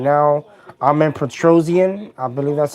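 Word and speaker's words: Petrosyan: the now for gregory rodriguez it is armin patron yeah petrosian it's all right so that's how you say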